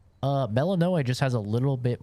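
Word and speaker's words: Melinoë: I think I like Melinoe. Like, that's how you say her name.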